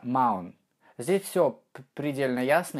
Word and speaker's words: mountain: давайте попытаемся провести слова mountain не так как я бы сейчас произнес а правильно маун то есть первый звук н вы произносите как вы привыкли произносить и второй звук н вы произносите через гортань переходя плавно в нос на он нам на